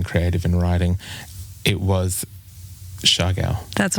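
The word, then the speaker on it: Siargao: It was Shagal. That's right. Perfect pronunciation.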